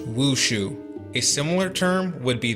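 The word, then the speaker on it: 武术: Martial arts would be written this way, pronounced wushu.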